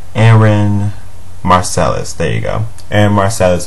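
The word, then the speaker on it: Aaron Marcelus: was Aaron how do you say his name Aaron marcelis there you go Aaron marcelis and he he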